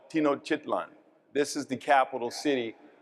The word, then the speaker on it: Tenochtitlan: My Nahua pronunciation isn't very good, but I call it Tenochtitlan.